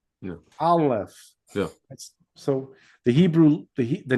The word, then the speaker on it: Aleph: So you have the A, the L sound, and the F sound.